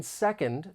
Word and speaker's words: second: you to know that the final D in second may get muted because of Aion this is when sounds